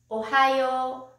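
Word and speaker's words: おはよう: with good morning good morning in japanese it's ohio whenever we greet in japan we bow let's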